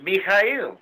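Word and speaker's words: Михаил: Only his name in Russian is Mikhail, right? That's right. Which is exactly the way we pronounce Michael in Greek.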